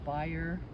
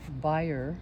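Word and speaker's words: Bayer: Chesley Minnie Chesley Wilhelmina buyer chess uh buyer Chesley gensel say it again Wilhelmina buyer was her maiden name uh Chesley gensel Chesley b-a-y-e-r like bear she's fine she spilled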